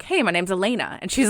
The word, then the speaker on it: Alana: I thought it was a bit like my name is spelled A L A N A like Alana, but I pronounced it Elena.